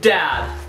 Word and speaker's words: Daad: Dad. I spell it weird though. It's D A A D. Yeah. Oh, it's like Dad. Dad.